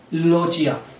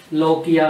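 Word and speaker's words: lochia: इसके बाद एक और इम्पोर्टेंट टॉपिक इसी में, लोचिया, लोकिया, लोचिया, जैसे भी आप प्रोनाउंस करो, यहां से एग्जाम में बहुत सारे क्वेश्चन देखने को मिलते हैं।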